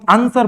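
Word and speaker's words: answer: there is a very common word that is आंसर इसको हम आंसर पढ़ते हैं इसको हम आंसर नहीं पढ़ते हैं द डब्लू is here ट्स also साइ इसको भी हम क्या कर देते हैं साइलेंट कर देते हैं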